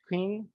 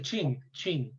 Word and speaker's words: Qing: How do you pronounce that dynasty? The Manchus, Qing. The Qing, just like Qing.